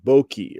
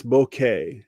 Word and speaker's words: bokeh: And I hear people pronounce it like bokeki or bokei or something, but it's bokeh.